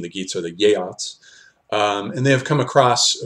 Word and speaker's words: Geats: is known as a upland it's tempting to pronounce the Geats that they're named as gates but I've learned that this is not the correct pronunciation the gates are the yacht's and they have come across from the southern